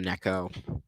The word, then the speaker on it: Neco: the phone Neco yeah I'm calling you Neco because one it's I just think it's funny and too it's how your name is spelled if it was Nico it would be an I not an e yes LPS I could